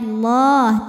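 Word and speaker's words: الله: l harakat wauya allahahu lam pada lafaz Allah atau lam jalalah dibunyikan secara tafkhim sebab harakat huruf sebelumnya berbaris fathah maka bacanya Allah tebal kemudian ada hukum alif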